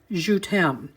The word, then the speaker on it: Je t'aime: I think it's pronounced Je t'aime.